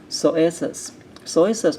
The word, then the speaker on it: psoas: Psoas major. Psoas, we did not talk about it in the class. We do not pronounce P, so it's called psoas.